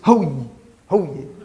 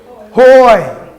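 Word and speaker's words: הוי: have a diphthong here you're not going to pronounce this whoo-hoo yeah you're going to pronounce that hoy hoy and it truly translates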